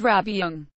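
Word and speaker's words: rab byung: Tib. Rabbyung pronounced Rabyung, which includes wearing monks' and nuns' robes.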